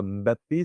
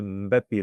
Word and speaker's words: Mbappé: Mb ce MB, ce n'est pas un M puis un B, c'est un seul son, un B qu'on prononce avec le nez.